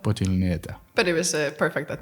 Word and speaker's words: Poteliūnaitė: from Lithuania, now living in the Netherlands, Poteliūnaitė, or something like that. How do I pronounce it correctly? It's Poteliūnaitė. Poteliūnaitė.